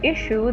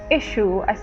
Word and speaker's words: issue: world by the way everybody uh pronounce the word issue this one issue okay it's just a short eyes like tissue issue right oh yeah and